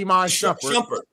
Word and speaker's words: Iman Shumpert: First of all, it's Iman Shumpert. So if you're gonna say it, please say it right.